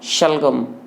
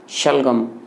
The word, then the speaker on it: शलगम: सड़क आ और फिर इसका उच्चारण होगा शलगम शलगम यहां क्षेत्र का उच्चारण तालू से हो रहे हैं इसका उच्चारण